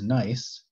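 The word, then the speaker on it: gneiss: furthest we go is nice spelled gne iss like we're crazy so when i say the word nice to describe a rock it's got its silent g um this is the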